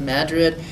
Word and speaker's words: Madrid: mining towns and one of those is um Madrid it's spelled just like Madrid in Spain but it's pronounced Madrid and it actually was once a thriving coal